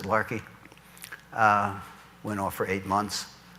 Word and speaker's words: Laki: 1783 in Iceland called larki it spelled laki but they pronounce it larki we know for eight